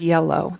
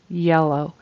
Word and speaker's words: yellow: dress also the word yellow the color yellow it needs to start with a y sound where your tongue goes all the way in the back but doesn't really touch anything y y yellow and it sounded like